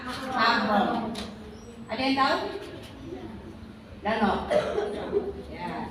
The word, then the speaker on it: mahram: Itu muhrim. Biasa jawabannya apa kamu? Bilangnya apa? Muhrim kan? Padahal sekarang bacanya apa? Mahram.